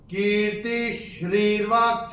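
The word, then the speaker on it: कीर्तिः श्रीर्वाक्च: चूंकि ये श आ रहा है तो ये जो विसर्ग है इसका उच्चारण होगा आधा श। तो मैंने कैसे चयन किया था? कीर्ति श्रीर्वाक्च नारीणाम्, कीर्ति श्रीर्वाक्च नारीणाम्।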